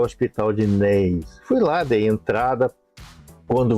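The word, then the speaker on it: Naas: Aí eles me indicaram para um hospital na cidade de Neis. Lei se escreve N a A S.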